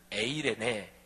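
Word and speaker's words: εἰρήνη: 2 말하면 샬롬 이구요 신약 헬라어 로 말하면 에이레네 이렇게 발음을 해요 사랑하시는 여러분 평강 평화가 넘치지 않아요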